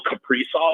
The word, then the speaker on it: Kaprizov: Dude, just imagine pairing Jack Eichel with Kirill Kaprizov or whatever that Kirill is. That that is? That's exactly how you pronounce it.